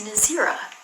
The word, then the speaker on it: Nazira: How do you pronounce Nazira? It's Nazira. That's how you pronounce it.